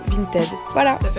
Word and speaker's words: Vinted: Alors moi je sais pas pourquoi je dis Vinted, mais je crois qu'en fait ça se prononce plutôt Vinted.